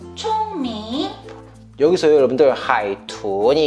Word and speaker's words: 海豚: 하이툰 총밍. 여기서요 여러분들, 하이툰이 이게 삼성 이성인데 굉장히 초보자로서 하기 어려운 발음이거든요.